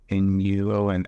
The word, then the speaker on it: Nuon: The first coin that's doing it that I know of is called Nuon, and that's spelled Nuon. Nuon. Almost sounds like Yuan.